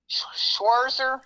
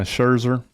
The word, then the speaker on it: Scherzer: And I saw where Schwarzer, I don't know how to say his name, Schwarzer. How do you say his name? Yeah, Scherzer.